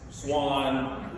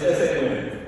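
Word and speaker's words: Sawin: Some people say SA-WIN, SA-WIN, Swan, but it's SA-WIN, just in case you're wondering.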